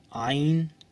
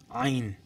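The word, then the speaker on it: عين: আইন বলে কিছু নেই আইন শক্ত করে বলতে হবে একটু কঠোর করে বলতে হবে জিনিসটা আইন তারপর বাংলায় বলে এটাকে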